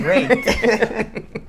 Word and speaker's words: raked: I said raked. Enunciate the K. You gotta pronounce the K.